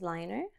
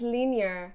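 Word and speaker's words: Lyner: the this necklace is liner and this is a y as well it's not how you say it liner I think so I always oh my God I say like linear yeah I mean it's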